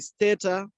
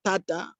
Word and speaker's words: Stata: Similarly, even when you're using other statistical packages such as the Stata, others pronounce it as Stata, but this is Stata.